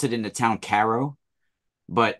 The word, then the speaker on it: Cairo: call it they pronounce it in the town Caro but it's it's spelled Cairo New York and there's the oldest